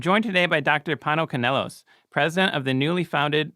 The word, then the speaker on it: Kanelos: and morality i'm joined today by dr pano canelos president of the newly founded university of austin dr canelos thank you for joining us today thank you